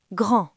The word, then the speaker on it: grand: Au masculin, la lettre D est à la fin. Elle n'est suivie de rien, donc elle dort. Écoutez. Grand.